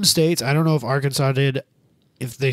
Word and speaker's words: Arkansas: Yeah, I was going to say your state's pronounced Arkansas.